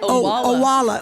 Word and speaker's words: Owala: Well, how do you say that name? I think Odwella. Owala? Owala.